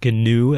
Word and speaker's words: GNU: what you're talking about, do not pronounce it like the antelope like animal that may live in other continents.